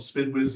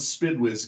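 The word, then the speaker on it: SDPWS: Similarly, uh, AWC, we have our our SPID, what we call the Spid Wiz Guide, and I realize it's SDP, but we pronounce it SPD.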